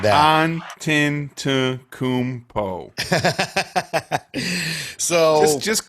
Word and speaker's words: Giannis Antetokounmpo: Giannis Antetokounmpo. There we go. You get an applause one for that one, because I sure as hell would have butchered that. Antetokounmpo.